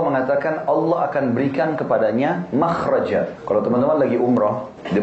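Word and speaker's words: مخرج: ya bahasa Arabnya itu mim Kha ra Jim bacanya makhraj karena Kenapa digunakan kalimat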